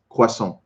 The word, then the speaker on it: croissant: Croissant is the correct pronunciation. Le croissant.